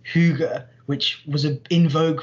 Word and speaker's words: hygge: is this uh idea that they call it's pronounced hygge which was a in vogue for a while